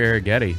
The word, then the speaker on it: Arrighetti: It's my guy, Spencer Arrighetti.